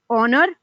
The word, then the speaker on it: honor: Words that starting with H and H is silent, so you have these words like honor, our, honorable, honest, etc.